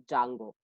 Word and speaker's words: Django: It is actually, the spelling is Django, but pronounced it as a Django and Flask.